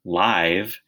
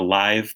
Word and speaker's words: live: The next word could be pronounced live, as in we're taping a live performance of our show, or it could be live, as in I live in Baltimore.